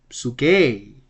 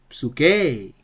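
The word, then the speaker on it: ψυχή: We have the same acute accent here. So the pronunciation would be psuke, psuke.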